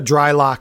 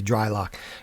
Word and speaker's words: Drylok: So go to Dry Lock, and that's spelled DRYLOK. There's no C, Dry Lock.